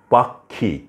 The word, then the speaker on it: পাক্ষিক: এর মত অক্ষাংশ পক্ষান্তরে পাক্ষিক এখানে মধ্যে কিটা মধ্যে আছে উচ্চারণ হচ্ছে ক খ এর মত এইসব শব্দে আমরা দেখতে